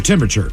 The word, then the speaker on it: temperature: of stuff man uh another word here that's hard to pronounce apparently for people uh what does a thermometer check temperature temperature your temperature temperature got to make sure to get that that other R in there temperature temperature temperature but we